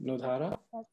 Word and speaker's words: Nudhara: So I hope I pronounced your first name correctly, Nudhara. That's perfect.